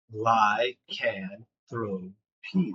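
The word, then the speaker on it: lycanthropy: First syllable is the word lie. The second syllable is the word can. The third is throw. And the last one is pee. Lie. Can throw pee.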